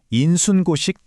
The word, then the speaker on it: 인순고식: 이걸 어떻게 읽냐면 인순고식 구참이봉이라고 읽어요. 조선 시대의 위대한 학자 박지원의 말에서 따온 건데요.